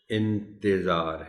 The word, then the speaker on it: انتظار: بولتے۔ اس کا تلفظ انتظار ہے، یعنی تے کے نیچے زیر کا خاص خیال رکھا جانا چاہیے۔ صاحب، اس لفظ کو